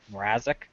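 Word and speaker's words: Mrázek: Yeah, they're starting Peter Mrazek.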